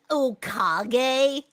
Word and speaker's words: Okage: Actually, Craigsley, it's pronounced Okage. And Okage was an amazing game.